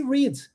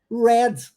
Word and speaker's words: read: tem uma sílaba né no presente pronuncia esse rids e no passado Red aí vem com som de é igual no player trager e ainda assim com uma sílaba Red Então não é uma